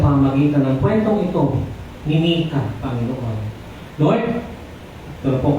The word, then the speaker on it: Micah: Ayan ang papagat po ng ating kwento ngayong linggo ay pinamagatang Mikas Mikas Idol or Mika's Idol. Amen. Saag sa English kasi this is pronounced as Mika.